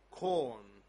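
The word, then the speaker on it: Khorm: Can you please pronounce the name again? Yes, I will try. Corn. My colleague says I pronounced it pretty much right.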